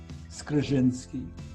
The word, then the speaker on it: Skrzynski: and i believe that the pronunciation might be skrzynski skrizzinski and kerry can possibly uh verify it whether it's correct or not